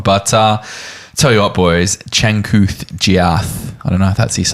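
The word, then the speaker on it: Changkuoth Jiath: But tell you what, boys, Chankuth Giath.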